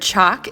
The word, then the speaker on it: chalk: know that the word chalk is actually short for french chalk we don't pronounce the l because it comes from